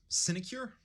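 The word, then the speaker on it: sinecure: word you keep saying cinecure yeah how do you spell it s-i-n-e-c-u-r-e you've been saying it right um a position requiring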